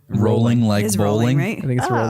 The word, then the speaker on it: Rowling: her name growling right rolling like rolling I thought we I always say rallying just because it's a